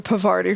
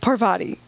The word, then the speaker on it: Parvati: just did was horrible I just called her Pavarti when he was Pavarotti no Parvati I can't I keep saying her name wrong I'm sorry I'm like